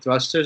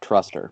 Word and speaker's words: thruster: switch out the kettlebell thrusters or dumbbell thrusters into like the bar thrusters. That shit is much more fun and much harder. I believe it's pronounced thruster and not truster, but I we'll that you are wrong.